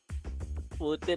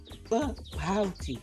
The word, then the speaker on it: pouty: The P should be pronounced like this. Ken. Pouty. Yeah, just like that.